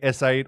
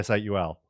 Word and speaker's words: S8UL: So they're like, "It's okay if they say S8 or Soul, but we want them to say SUL."